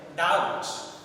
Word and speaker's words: doubt: now see the examples if you see the word doubt doubt there are the formulators out of that violators one letter is not pronounced that becomes siren that is verb so we pronounce it as doubt then we sit silent so we have